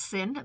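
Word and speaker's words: Synne: in the isle of sin series i thought it was schnee s n y no s y n n e but it's pronounced sin because i was listening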